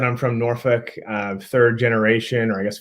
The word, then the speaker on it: Norfolk: I say Norfolk. It's kind of just straight through. Some people do say Norfolk, and other people really do pronounce it phonetically and say Norfolk. I would just say Norfolk, to keep it quick and short and dirty.